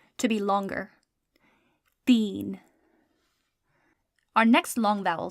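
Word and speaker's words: تین: One more example of the sound E. So our word is teen. Teen means 3. Teen is spelled te, choti ye, and noon.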